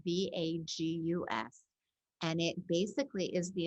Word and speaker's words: vagus: has ever heard of it is not vegas like what happens in vegas stays in vegas it's spelled v-a-g-u-s and it basically is